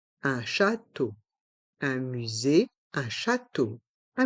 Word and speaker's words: château: dans le mot château les trois voyelles e a u font le son o comme la lettre E un château un musée un château un musée un château